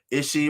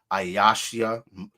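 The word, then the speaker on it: אישי: Ishi, right? Or how we would pronounce it, Ayashia. Ayash meaning man or husband, Yah at the end denoting my, right? You shall call me my husband, right? Ayashia or Ishi as the small hats would pronounce.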